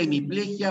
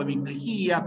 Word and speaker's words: hemiplejia: tiene esas dos posibilidades puedes ir a hemiplejia o hemiplejía paraplejia o paraplejía las dos formas son correctas y a salvo la